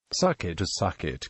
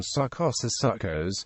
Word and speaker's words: Sukkot: Succot. In traditional Ashkenazi pronunciation, Succos, literally Feast of Booths, is commonly translated to English as Feast of Tabernacles, sometimes also as Feast of the Ingathering.